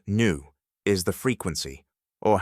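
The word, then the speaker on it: nu: 34 JW seconds, and new pronounced new is the frequency or how fast the light wave oscillates.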